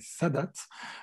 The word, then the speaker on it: Sadat: Il faut prononcer Sadat.